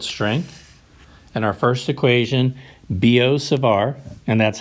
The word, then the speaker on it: Biot-Savart: and our first equation biot-savart and that's how to pronounce Bo for the first whoever it was last name and savart the T is silent for the second one biot-savart that's the workhorse equation